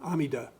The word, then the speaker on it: Amida: In Pure Land we rely on the Buddha Buddha Amitabha Amita Amida as he's pronounced in Japanese.